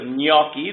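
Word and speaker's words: Gnocchi: in the grocery store, gn combination, which if you look at the English word, canyon, is a ny, so if you think of gnocci, those things we look for in the store, the g becomes soft.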